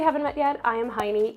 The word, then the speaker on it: Hajni: In case we haven't met yet, I am Heini. Yes, it's pronounced Heini, even though it's spelled H-A-J-N-I, so it's not Hajni, it's Heini.